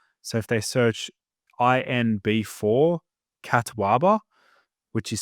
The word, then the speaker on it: catuaba: So it's a particular herb called catwaba.